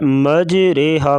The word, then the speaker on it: مجریہا: ہدایت نمبر 4 ہے مجریہا کا تلفظ مجریہا ہوگا، یعنی اسے اردو لفظ قطرے کی راہ کی طرح پڑھیں گے، اسے مجریہا پڑھنا غلط ہے بلکہ اسے مجریہا پڑھیں گے۔ ہدایت نمبر 5 ہے